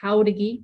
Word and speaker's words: Jauregui: Dr Rebecca Burton and this is Professor houdegi when you see her name on the screen yes it's how to get pronounce it with the ha instead of a j